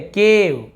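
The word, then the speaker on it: cave: देखिए लास्ट में ई को हम पढ़ नहीं रहे, केव, गेव, ट्रेस, फेम, किसी के एंड में ई नहीं पढ़ रहे हैं, रहने के लिए तो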